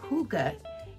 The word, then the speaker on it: Hygge: Now, Hygge is the Danish secret to happy living. It's a funny pronunciation, but that is the correct pronunciation.